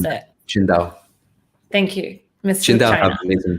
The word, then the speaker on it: Qingdao: How do you pronounce that? Qingdao.